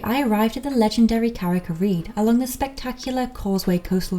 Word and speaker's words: Carrick-a-Rede: How is this place pronounced? Carrick-a-rede. Say it slowly, sorry. Carrick-a-rede. Carrick-a-rede.